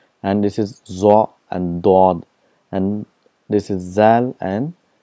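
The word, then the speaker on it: ض: For example, for Zwad, in Urdu it's called Zwad, but in Arabic it's called Dod. There's a lot of difference between Zad and Dod, so we have to practice that.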